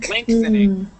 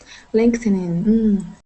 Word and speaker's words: lengthening: yes okay now now the trick to this word is that we do not pronounce that g okay we actually pronounce